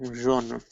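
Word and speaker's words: jono: It is called as zone. It is spelled as J-O-N-O. J-O-N-O, zone.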